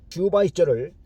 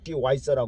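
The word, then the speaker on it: Schweitzer: 슈바이서를 영어에서는 시와이서라고 그렇게 발음하죠.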